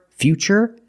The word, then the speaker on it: future: words what's the pronunciation what's the pronunciation of T that's right it's ch because we see t e we pronounce the T as CH and we see t r i in futuristic again the t is pronounced with the CH sound so the first word